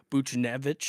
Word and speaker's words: Buchnevich: They did make a signing of Pavel Buchnevich.